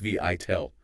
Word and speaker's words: VITAL: Vital, pronounced Vital.